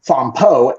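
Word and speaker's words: Fampoux: So f a m p o u x cuz like they they for some reason the French like to put x at the end of things which English don't pronounce the same way.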